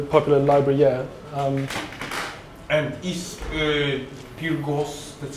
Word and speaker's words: Peergos: And is Peergos, that's how we pronounce it, yes?